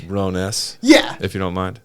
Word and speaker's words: Rones: That's pronounced Rones. But I'm not going to run around repronouncing it forever. Like, I'm just Actually, like, it's Rones.